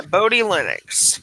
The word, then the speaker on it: Bodhi Linux: is on the list ah bori bori zat host pronounced ya Bodhi Linux I learned something today